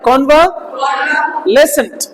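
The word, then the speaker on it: convalescent: कौन व न आता है, कौन व लेसेंट, कौन व, देखो ये स्ट्रेस मार्क है तो यहाँ पे थोड़ा ऊंचा पढ़ा जाएगा।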